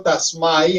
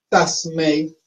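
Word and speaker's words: तस्मै: En español nosotros debemos decirlo es con EI, EI. Esta realmente se pronuncia EI, Tasmei Sri Gurave Namaha.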